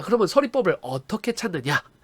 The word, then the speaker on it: 설의법: 자, 표준 발음을 보니까 서리법이 표준 발음이 두 개예요. 이렇게. 그럼 왜 이렇게 두 개가 됐느냐?요 요 이중모음의가요. 요게 발음이 두 개가 됩니다. 자, 일단 기본적으로는 글자 그대로 읽으면 돼요. 의라고 읽으면 됩니다. 하지만 이로 읽는 거를 허용해 줘요. 이렇게 의와이 두 개가 다 됩니다. 그래서요 초성의 이응은 아무것도 없는 빈자리기 때문에요 니을이 뒤로 넘어가죠. 그래서 설리 이렇게 되고요. 그다음에 이로 발음하는 걸 허용한다 그랬으니까 서리가 되겠죠.